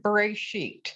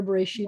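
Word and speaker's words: בראשית: The first two words are bereshit. Why is there an aleph in there? It has no vowel and it has no sound.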